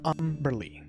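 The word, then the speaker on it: Umberlee: the ass too okay umbrelly pronounced umberly was the evil sea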